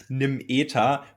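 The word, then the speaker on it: Nimeta: I just call it like we call it in Germany, Nim Eta, but your pronunciation is the better one for The Nimita.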